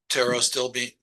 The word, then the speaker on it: pterostilbene: You know, the resveratrol has a more active, biologically active form, which is called pterostilbene. Pterostilbene, which is kind of a weird name, but it's spelled PTERO.